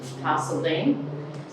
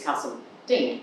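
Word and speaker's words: Carseldine: moved up from Melbourne, I pronounced it Castledene, because that's what I learned. And apparently, that is what it's meant to be called, as you would probably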